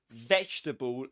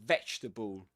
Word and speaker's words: vegetable: jetable come for but don't let the word trick you. That's not the way English works. So you will actually say this comfortable comfortable and you don't pronounce this one. And the same applies to vegetable. You don't pronounce this letter.